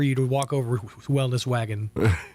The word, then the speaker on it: Waggin: to walk over Wellness Wagon 3 times and not reference the fact that it's spelled W-A-G-G-I-N. It is, Joe. Yes, it's wagon, yes, like wagging your tail.